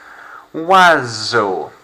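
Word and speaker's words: oiseau: your lap doesn't he wazzo there's almost a whistle sound being made there so you don't have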